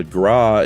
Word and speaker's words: gras: Uh, gra in French is fat with a silent last letter like fuagra.